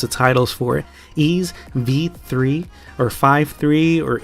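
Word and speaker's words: Ys VIII: Lacrimosa of Dana: Ease, V3, or 5.3, or 8. I know a lot of folks pronounce it differently, but it is V3.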